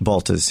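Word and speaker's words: Baltes: Another pioneer, and I'll probably mispronounce his name, Paul Baltez? Baltez, yeah.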